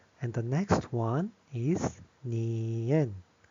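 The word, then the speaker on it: 니은: So, that's why um King Sejong made it as giyeok and the next one is nieun. nieun This one is like na, na. Which is n sounds, n na, na.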